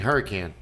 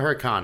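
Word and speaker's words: Huracán: get back to Lamborghini hurricane now we got off track so that's spelled spider with a Y is it hurricane or Huracan anybody know don't know uh I think it's huran Huracan okay oh you he had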